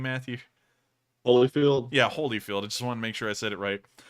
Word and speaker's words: Holyfield: And then when he came back after he bit off Holyfield's ear, Holyfeld's, oh man, I can't pronounce that name. What's that guy's name, Matthew? Holyfield?